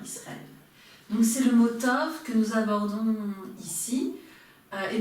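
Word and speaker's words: טוב: Vous reconnaissez le tête que nous venons de voir, le vav qui se prononce ici haut, et le veit, tov.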